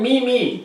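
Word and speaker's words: Meiomi: And it's called Mimi. Mimi. Very selfish. It's spelled M-E-I-O-M-I, Yeah, but you claim. that's the pretentious way of spelling Mimi.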